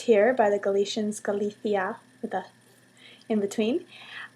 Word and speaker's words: Galicia: Hi everybody, I'm in Spain at Corona, also known as Galicia, or pronounced here by the Galicians Galicia, with a in between.